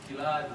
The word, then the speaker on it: Gilad: So it's Gilad with a hard G.